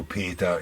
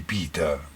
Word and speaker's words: Peter: Non lo so perché ho pronunciato Peta invece di Pita.